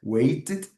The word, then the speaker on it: waited: Palavras terminadas em T ou D. T or D. Elas vão ter esse ed no final.